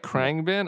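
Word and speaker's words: Khruangbin: n g b i n is that right krang bin i in my head i've i've also i've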